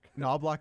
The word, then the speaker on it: Knoblauch: new Oiler coach oh chis noblock noblock that's how you say it okay I didn't know if the if it was nblah or noblock no na block uh